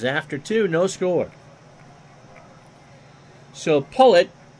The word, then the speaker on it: Pollet: So Pullet, although it looks like Pollet, it's pronounced Pullet, is opening 9 on 28 pitches.